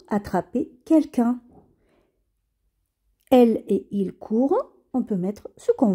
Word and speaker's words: courent: je cours elle ils courent nous courons vous courrez elle il court le ent ne se prononcent pas et quand vous voyez